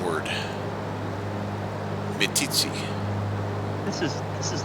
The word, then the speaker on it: Meeteetse: Okay, so you think that I'm how do you say this? Meeteetse? Meeteetse, Meeteetse. Yep. Meeteetse. where chiefs meet. That's what that means. Oh, It's a well, Shoshone word. Meeteetse.